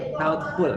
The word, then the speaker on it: thoughtful: Nah, kalau dalam thoughtful, GH-nya ini dihilangkan, langsung ke T, thoughtful gitu ya.